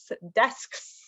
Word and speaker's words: desks: In my last class, lots of students had trouble pronouncing desks. I had never, until I started teaching this class, I had never thought about how that's a hard sound in English to make, the SKS sound.